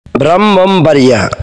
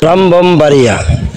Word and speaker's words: ব্রাহ্মণবাড়িয়া: ব্রাহ্মণবাড়িয়া, ব্রাহ্মণবাড়িয়া এইখানে এই শব্দটির মধ্যে একটি যুক্ত বর্ণ রয়েছে। এই শব্দটি এই কি উচ্চারণ হবে, কিভাবে বানান করব সেটি আমরা বুঝতে পারছি না, একটু বুঝিয়ে বলবেন?